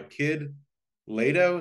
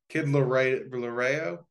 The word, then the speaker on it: Kid Laroi: So, I guess it's Love by Kid Lato. Is that how you say it? Kid Laroi? Laroi. Kid Laroi. My R looks like a T right here.